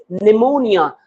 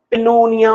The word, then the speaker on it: pneumonia: Such as if I write here P N E U M O N I A. What is this? It is pneumonia. Here this P is silent. It does not have any sound here in this word.